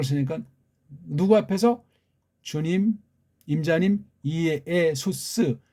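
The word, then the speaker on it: Ἰησοῦς: 퀴리오스, 이에수스, 크리스토스, 주 예수 그리스도, 주 예수라고 하지 마세요. 이에수스라고 해야 그게 맞습니다.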